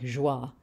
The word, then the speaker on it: joie: borrowed from French, and all of which in French were pronounced with a je, like joie, instead of joy is how we have it.